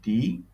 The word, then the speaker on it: the: দি ওল্ড ম্যান is standing. এখানে ওল্ড শব্দটি বৃদ্ধ ও দিয়ে শুরু হয়ে গেছে ভাওয়েল দিয়ে। এই কারণে তার পূর্বে যে দিটা আছে সেটা দির মতোই উচ্চারণ হবে।